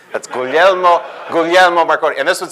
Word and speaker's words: Guglielmo: The only reason why Marconi invented wireless broadcasting was to teach people how to pronounce his first name. That's Guglielmo Marconi.